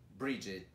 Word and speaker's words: Bridget: Isso mesmo, essas palavras elas normalmente os alunos confundem, não sabem como pronunciar, principalmente porque aparece um G, E, T no final, que para todo mundo é o get. Mas aí aparece um D e aí ele muda totalmente a pronúncia dele. Mas já temos algumas palavras